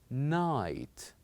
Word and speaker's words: night: G and H so the word is night night here we pronounced only three letters n i t night but we always